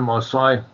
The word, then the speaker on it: Marseille: There was only one Marseille. His surname is pronounced the same as the French, but he was a French Huguenot stock, just like Gelland.